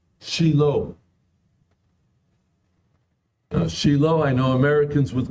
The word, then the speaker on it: Shiloh: so we'll call it which is the proper Hebrew pronunciation and by the way